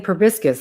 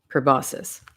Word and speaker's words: proboscis: again it's uh the I kept saying probiscus last time but I knew it was wrong but I can't remember